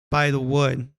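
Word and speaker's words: Bythewood: It's an American romantic sports drama film written and directed by Gina Prince by the Wood. At least that's how it's pronounced.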